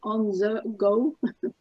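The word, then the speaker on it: Ondago: It's called On The Go, O-N-D-A-G-O, but it's pronounced On The Go.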